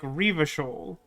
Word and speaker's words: Revachol: The little pronunciation guide that I cited at the start of the stream suggested that you were supposed to put more emphasis on the first syllable. So it'd be like Revachol.